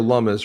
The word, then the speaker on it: Lummis: Cynthia Lummis rhymes with hummus.